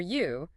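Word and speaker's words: 鱼: Fish or U is indispensable. Its pronunciation is identical to the word for surpluses or excess.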